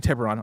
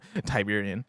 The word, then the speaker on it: Tiburon: It's actually Tiburon. All right, sweet. Yeah. Appreciate that. I appreciate it. I didn't want to correct you because I thought it was funny. Tiberian.